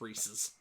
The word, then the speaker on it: Reese's: Because technically he is correct, it is pronounced Reese's.